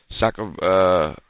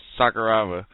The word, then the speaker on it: Sakuraba: Okada teaming up with Yano and Sakuraba. I'm pretty sure I got the name wrong. Going against Bullet Club. Huh? It's Sakuraba.